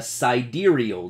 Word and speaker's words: sidereal: day that's called a side aerial day it's spelled like sidereal and this is supposed to be two words sight side aerial day side aerial is one word and day is another word but site D